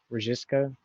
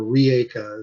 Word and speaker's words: Rijeka: basically your login for the GitLab on a Rejiska? Rijeka, Rijeka? or Rieka is how they That pronounce it.